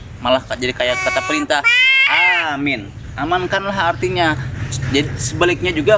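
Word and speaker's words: آمين: Dalam pengucapan amin, kalau kita memang enggak, oh ya Allah Robbi, wih, udah yang lempar-lempar. Ini abah kotor nih. Amin. A-nya jangan salah-salah pengucapan amin. Benar-benar A-nya panjang, mimnya panjang. Amin.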